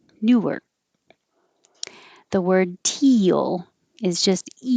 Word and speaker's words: Newark: If it's number 12, the stress is on Newark, Newark.